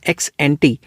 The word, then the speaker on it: ex ante: तो अब कई लोग इसको एक्स एंट भी पढ़ देते हैं, कई लोग इसको एक्सपोस्ट तो एक्सपोस्ट ही रहेगा। तो अलग अलग प्रोनाउंसिएशन है मगर मतलब तो सेम ही है ना।